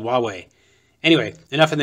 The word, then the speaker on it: Huawei: No, just spell it easy. W-A-W-A-Y if you want to be called Huawei.